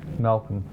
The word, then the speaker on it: Malcolm: You see, did we pronounce the L when we said Malcolm? No, Malcolm.